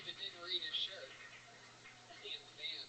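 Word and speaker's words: Tampham: For those of you that didn't read his shirt, Tam Fam is spelled T-A-M-P-H-A-M. Where's it at? Oh yeah. Heavy on the PH.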